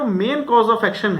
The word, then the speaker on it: mesne: ये मीन profit है, इसको कई लोग मैसने प्रॉफिट बोल देते हैं क्योंकि स्पेलिंग ऐसी है MESNE, इसको हम मीन प्रॉफिट बोलते हैं।